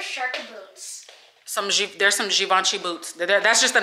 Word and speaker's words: Givenchy: wait i'm going to be careful with this givenchy that's how you pronounce it not givenchy i didn't heard a lot of people call it gavinchi yeah yeah i was going to say what